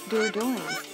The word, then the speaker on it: Dordogne: Dordogne is pronounced as Dordogne in English.